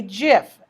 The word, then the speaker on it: GIF: the worldwide web a gif that's how you pronounce it just like the peanut butter with a hard G